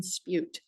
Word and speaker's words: Spute: CJ Margraf, and Spute. I was told that the way I pronounced it was like the word dispute, and there is no